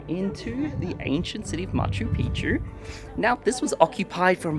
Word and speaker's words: Machu Picchu: our way down into the ancient city of Machu Pichu now this was occupied from about 1,400 for about 100 years and yeah it's absolutely incredible of course the correct way to pronounce it is Machu piku which means Little Mountain which is based off